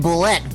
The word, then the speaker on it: boulette: A boulet. Which should still be pronounced boulette, by the way, everyone in the nerd community.